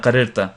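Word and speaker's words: قررت: Lam position becomes sakin, so you actually open it up and you pronounce both ras. Qarirna, qarirta.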